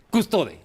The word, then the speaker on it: Custode: Custode, así se pronuncia la E.